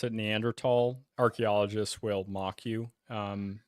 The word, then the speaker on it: Neanderthal: tals uh by the way if you don't pronounce it neander tall archaeologists will mock you um which is annoying